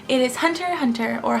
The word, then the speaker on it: Hunter x Hunter: It is Hunter x Hunter, or Hunter x Hunter. You're not supposed to pronounce the X, but I like the X.